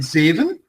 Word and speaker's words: zeven: Yeah, that's why, for example, with kater and zeven, we see here an open pronunciation. Why? Because we just have one V in the middle. Yeah, that's why it makes the first E longer.